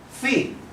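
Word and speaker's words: φ: line that Loops Within this is the letter fee which is pronounced exactly as we see it in the world food so we have fee for food for food we can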